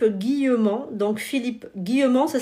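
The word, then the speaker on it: Guillemant: c'est un physicien français non c'est pas Jacques Guillaume c'est Philippe guillauman donc Philippe guillauman ça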